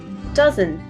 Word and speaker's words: dozen: these words this says dozen if you clap it out you'll see that it has two syllables does sin and our uh sound is at the beginning of the word duh dozen it doesn't means 12.